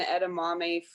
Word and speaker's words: edamame: I use a lot of like quinoa and edamame for my protein.